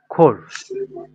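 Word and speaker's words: Chor: vowel থাকে তাহলে হচ্ছে সি এইচ এর উচ্চারণ হবে খ এর মত এখানে সিএইচ এর পরে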